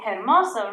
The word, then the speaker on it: hermosa: that one ready i do not say hermosa right because this letter is silent good job how about